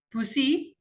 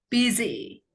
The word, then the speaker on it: busy: Busi. Apakah betul busi? No, it's busy. Busy.